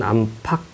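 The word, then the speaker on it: 안팎: 것은 리을이 탈락합니다 뛰다 놀다 뛰놀다 안과 박은 안팍 왜 이게 팍이 되냐면 안 하면은 뒤에 키 바름이 조금 있어요 안이 발음이 있어서이 소리가 있어서 까고 이렇게 합쳐질 때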